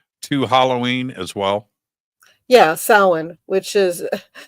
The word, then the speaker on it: Samhain: a Criminal Minds episode, Sam Hain. There's no Sam Hain. The Dark Lord Sam Hain, no Dark Lord Sam Hain. It's right? pronounced Samhain. It's not an English word, it's a Gaelic word, Samhain.